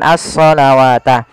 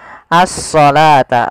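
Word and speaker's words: الصلاة: ini bukan asata nah ini jangan kita baca dengan asalawata tapi di sini kita bacanya dengan asalata wau di sini dianggap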